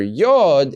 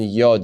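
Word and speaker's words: יוד: Tet yard yard and the letter yod is pronounced as a yeah yeah sometimes spelled with a Y if you go to the German language you will see it as spelled with the J and that that uh slips over into English as well but the sound it makes is yeah now this is one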